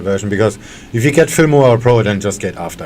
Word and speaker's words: Filmora: Finmora? Yeah, it's cheaper version for the dumb people like me. Finmora, let me look it up. How you spell that? Film like film, Filmora.